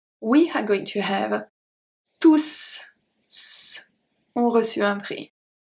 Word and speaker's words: tous: are going to have tous ont reçu un prix. Tous ont reçu un prix. Here we pronounce the S. This is the only time when we are going to pronounce the S at tous.